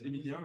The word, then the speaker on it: Emilian: You do like a French pronunciation, so it's Emilian.